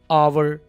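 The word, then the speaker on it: hour: एच ओ जहां पर आएगा वहां पर ह की साउंड नहीं आएगी बल्कि आ की आएगी। जैसे कि आवर आ इस बात को अंडरस्टैंड कीजिए।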